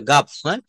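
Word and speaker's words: gulf: জি ইউ এল এফ এখানে এলটা কিন্তু silent থাকবে এটা গাভ বলতে হবে গাফ এটা গাফ বলতে হবে গাফ মানে হচ্ছে উপসাগর গালফ বলব না বে অফ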